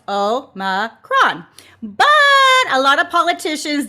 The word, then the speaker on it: omicron: the greek letter o is supposed to be pronounced oh ma kron but a lot of